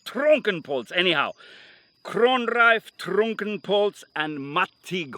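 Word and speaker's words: Trunkenpolz: the way isn't it two syllables trunk and poles anyhow cronrife trunkenpoltz and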